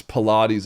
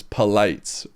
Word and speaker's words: Pilates: Um for the longest time she also made fun of me because I used to pronounce Pilates as palates.